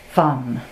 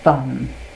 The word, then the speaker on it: van: the actual word is fun, sort of pronounced between an F and a V, so fun.